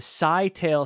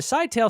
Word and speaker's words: Scytale: what's up they would use something called the Sigh tale Cipher it's Cy T L E I am